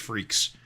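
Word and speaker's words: Freex: at uh Malibu is that f r e x that is how that's spelled I don't think I've ever said that title out a loud before I guess I didn't realize it pronounced freaks you I don't think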